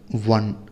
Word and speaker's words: one: Here one actually starts with W sound.